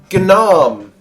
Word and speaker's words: gnome: you you are a gnome oh oh so cute is my book wrong there was a there was a letter g the g is silent darling yes it is